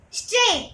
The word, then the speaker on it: straight: Straight. What is a silent letter is that? GH is a silent letter in that.